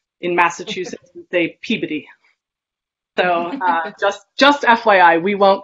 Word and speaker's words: Peabody: And I know that my husband is from the West Coast, and I know a lot of people say Peabody. In Massachusetts, they Peabody.